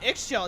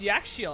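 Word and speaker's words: Ix Chel: Oh, it's not Ixchel, it's Yakshil.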